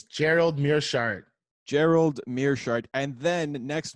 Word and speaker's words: Gerald Meerschaert: I can't pronounce this dude's name. It's Gerald Meerschaert.